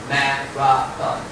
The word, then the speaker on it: marathon: 3个音节 marathon. But the stress is on 马拉松的重音在第一个音节。Yeah.